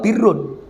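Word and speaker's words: بِرّ: Ini bacanya burun, barun atau birun. Kalau barun itu daratan. Zuharul fasadu fil barri wal bahri. Ini al barru itu daratan. Kalau al birru itu kebaktian, kebaikan.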